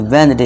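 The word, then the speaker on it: Wednesday: ठीक है दोस्तों, इसे क्या पढ़ेंगे, वेंसडे, वेंसडे नहीं वेंसडे। इसका करेक्ट प्रोनाउंसिएशन क्या है दोस्तों, वेंसडे।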